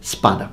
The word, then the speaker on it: spada: Or espada, something like that, but in Italian it's spada, no e at the beginning.